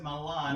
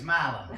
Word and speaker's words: Milan: In Italy, they pronounce it Milan. In Tennessee, it's Milan.